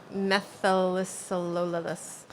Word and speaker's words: methylcellulose: And then using that methylcellulose. Maybe instead Luca of can ice- help us instead of pronounce egg that.